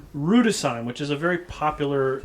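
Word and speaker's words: Rüdesheim: Rudesheim.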